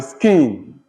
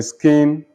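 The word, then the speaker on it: skene: well expected to accept then you have the skin the scheme you already mentioned the schema will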